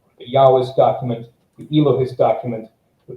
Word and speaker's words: Yahwist: J stands for the Yahwist, which it was a German theory, so that's why J is pronounced as Y. Stands for the Yahwist source, which is typically held to be the oldest one of them.